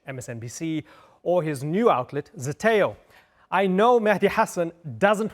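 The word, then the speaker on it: Zeteo: a long time and thank you for a pronouncing Zeto correctly Shameless plug Zeto and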